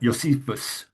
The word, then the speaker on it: Josephus: And we know that Josephus called him uh Yeshua and even Josephus would have been pronounced more like Yosephus uh or something like that.